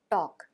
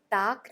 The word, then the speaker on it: talk: एल के जहां L silent होता है इसका उच्चारण नहीं होता है टॉक इसे टाक नहीं पढ़ते टॉक टॉक टू फॉर्म है